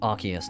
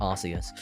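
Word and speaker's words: Arceus: Also, I pronounce it Archius, not Arus.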